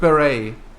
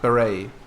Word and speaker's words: beret: like with beret the the hat beret. It's it's spelled b e r e t but the t is not pronounced.